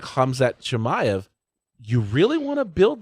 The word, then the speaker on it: Khamzat Chimaev: mill has it that how's his name pronounced? Khamzat Chimaev.